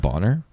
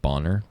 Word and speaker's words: Bonner: Are you sure it's not Bonner? It's literally spelled Boner. I know, but pronounced Bonner. I would pronounce it Bonner, but like I don't think he cared.